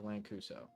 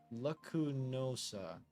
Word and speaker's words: Lacunosa: I think we're going north to Lancuso. But the Abundant Shrine is south. Lancuso. What am I fucking saying it wrong, AMG? Lancanosa. I am saying nope. Lacunosa.